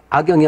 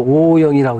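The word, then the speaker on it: 惡盈: 또 사람의 돈은 과욕을 부리는 자를 미워하고, 이거 악이라는 건 사실은 악이 아니고 오야, 오. 근데, 미워하는 사람이죠. 그러니까 미워할 오자로 봐야죠. 인도는 악영이 아니고 오영이라고 읽어야 되겠네. 오영이.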